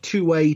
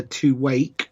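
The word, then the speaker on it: Tuwaiq: I believe the correct pronunciation is the two-way trophy, which gives it slightly bizarre pornographic overtones. I don't believe you pronounce the Q.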